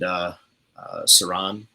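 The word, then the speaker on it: Siran: We signed Saran, that's how it's pronounced.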